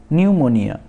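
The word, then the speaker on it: pneumonia: ठीक है, उसके बाद न्यूमोनिया। न्यूमोनिया, तो यहाँ पर P साइलेंट है। उसके बाद जो NEUMONIA है इसको हम प्रोनाउंस करेंगे।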